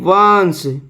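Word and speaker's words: once: है ओ एन सीई वंश ओ एन सी ई इसका उच्चारण क्या होगा व आधान स वंश और इसकी हिंदी मीनिंग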